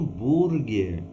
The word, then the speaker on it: hambúrguer: nós temos aqui um hambúrguer então o que que acontece nós tivemos numa diferença na pronúncia porque o h não é pronunciado e também temos um